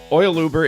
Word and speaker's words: OilUber: OilUber.